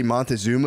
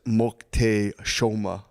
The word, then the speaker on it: Moctezuma: Apparently, the way you say Montezuma is Moctezuma. So if you hear anyone say Montezuma, say actually it's pronounced.